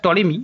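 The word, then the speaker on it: Ptolemy: ঠিক আছে এবার কলজিয়াস টলিমি অর্থাৎ পি টলিমি যেটাকে টলিমি বলে টলিমি পি টলিমি বললেও হবে টলিমি হবে উচ্চারণ তো টলিমি যেটা সবথেকে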